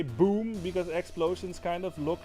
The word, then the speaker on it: boom: means tree, basically, it's boom. Like that's how we pronounce that. Instead of boom, we say boom, and boom is the Dutch word for tree.